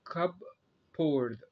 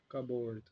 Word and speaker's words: cupboard: بيقول لك هنا spelling rule ان انت ازاي تنطق الحرف P the letter P in the word cupboard. Cupboard is silent. Cupboard.